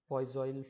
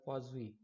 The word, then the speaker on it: Poiseuille: Now this is often mispronounced, this term. Some people call it Poiseuille flow, or may call it something else. This is actually a French name. This is called Poiseuille.